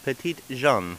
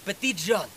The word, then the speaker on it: Petit Jean: Ah, Petite Jean. Yes, Petite Jean. That's how you say it.